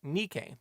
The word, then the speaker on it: Nike: own line of Footwear they named The Line Nike the name of the Greek goddess of Victory although said goddess's pronunciation is more like Nik as for their now iconic logo they used